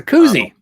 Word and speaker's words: koozie: cold drink koozie you're cozy i'm not sure how you say it it's a koozie koozies how he said